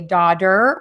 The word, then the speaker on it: daughter: understand why we say daughter with a D and slaughter with a D. So again, daughter and slaughter are pronounced with a variation of the T sound, which sounds like a D.